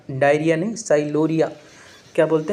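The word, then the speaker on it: sialorrhea: एक अपना बात करने वाले टाइलिज्म, यहाँ पर पी साइलेंट है, टाइलिज्म, इसको बोलते हैं साइलोरिया। डायरिया नहीं, साइलोरिया।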